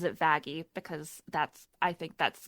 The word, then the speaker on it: Vaggie: be his car in character okay but she pronounces it vaggie because that's I think that's better turn something